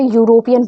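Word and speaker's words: European: बट यह गलत है क्योंकि हम यहां पे यूरोपियन पढ़ते हैं।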